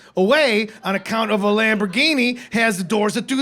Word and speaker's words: Lamborghini: you all need help getting a lamb giant that says lamb Gina man that's how it's spelled oh y'all need to get a Lamborghini off a building and